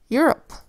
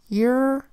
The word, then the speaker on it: Europe: Next word, Europe. Europe is one of the 7 continents on planet Earth. Europe is spelled with a capital E because it's a proper noun in our EUR phonogram.